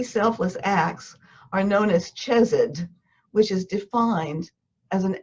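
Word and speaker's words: chesed: act with no cause i'm going to tell you right now that i'm mispronouncing it because the ch in c-h-e-s-e-d is a guttural sound that you can't pronounce properly without spitting on somebody so i'm not even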